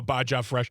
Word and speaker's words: Baja Blast: I'm only saying I'm only pronouncing the J now Baja Blast.